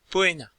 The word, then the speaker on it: Poena: Et OE se prononce presque E, Poena, le châtiment.